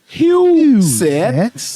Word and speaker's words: Huseth: Let me tell you how to pronounce it. Huseth, who is in the building running for State Representative Tennessee District 97.